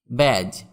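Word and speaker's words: badge: ব্যাজ, BADG, এখানে ডি এর উচ্চারণ হবে না।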